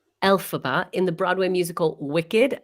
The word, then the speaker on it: Elphaba: i say it correctly i always say it wrong alphabet elphaba in the broadway musical